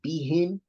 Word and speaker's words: بهم: Make sure that we pronounce these words bihin and bidhi, that we pronounce the ba still with tafkhim. I'm sorry, stuck for Allah. With tarqiq, we still pronounce it b.